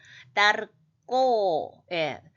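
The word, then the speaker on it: דַּרְכּוֹ: 무엇을 그렇게 꼴똘히 생각하느냐 하면 자 달렛 안에 중복점이 있으니까 따 해야 되겠죠. 받침으로 갈 수가 없으니까 따르꼬 즉 카프도 중복점이 있으니까 되게 발음해서 왜냐하면 따르에서 슈바가 있어서 음절이 끊어지기 때문에 받침을 보낼 수가 없으니까 된 소리로 해서 따르꼬 이렇게 됩니다.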